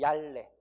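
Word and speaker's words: 얇네: 옷이 얌내가 아니라 옷이 얄내 이렇게 되는 거예요.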